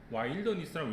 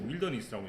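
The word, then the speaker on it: wilderness: 와일더니스라고 읽지 않고 윌더니스라고 있습니다.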